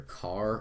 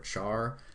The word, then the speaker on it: char: is CH h r you can pronounce this either car or a Char I prefer car though all right and